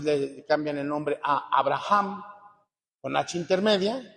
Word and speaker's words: Abraham: cambian el nombre a Abraham con na intermedia Lo tendríamos que pronunciar Como si fuese una j este escucha al señor